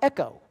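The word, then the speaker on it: ἔχω: It's pronounced echo. Not like you hear an echo.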